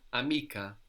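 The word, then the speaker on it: amiche: i c h e here we have to put a c h to maintain the hard sound otherwise C would give us which is not the word it's so that's spelled a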